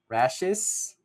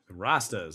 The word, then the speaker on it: Rastas: If I'm going to pronounce this name right, Rashis. Rastas, like the Rasta. Rastafarians. Oh, Rasta.